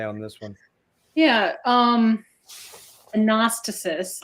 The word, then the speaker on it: Anastasis: Anastasis, I guess, is the actual pronunciation.